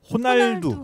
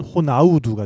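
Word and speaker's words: Ronaldo: 가 축구선수 이름 중에 호날두 호날두 같은 경우에는 아주 r r 발음은 h 로 하는데 그게 이제 포르투갈 식으로 발음하면 헌 나일 두는데 이것을 같은 이름이지만 브라질 식으로 발음하면 호나우두가 되고요 아 하고 나 아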